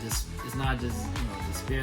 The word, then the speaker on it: D'Spayre: Because, because Despair, it's not just despair the way it's spelled, but it's Despair.